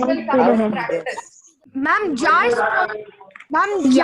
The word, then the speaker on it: ja: Ma'am, ja is pronounced as yeah, right?